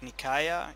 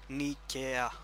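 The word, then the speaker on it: Nicaea: you don't read it like Nikaya, you read it like an E. Nikea. Just so you know. If you ever see an A and an I, just call it E.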